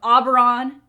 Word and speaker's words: Auberon: So Auberon, it will remain. And Auberon is one of the systems through the Ring Gate. So it's the Auberon system because there's the Auberon planet, and it's